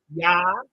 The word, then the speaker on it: you: The word U has three pronunciations. U, ya, ya. And the most common pronunciation of U is ya.